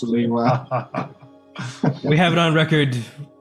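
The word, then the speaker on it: Lewa: is truly it's pronounced leewa right guys yes it's pronounced leeway we have it on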